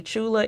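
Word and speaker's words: Tchula: is from Chula Mississippi Chula is spelled with the t t c hu La it's in central Mississippi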